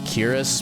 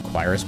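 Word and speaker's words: cuirass: And armor, leather Quirus. Or Kiris. I think technically the pronunciation is Kiris, but I always like Quirus better, for whatever reason.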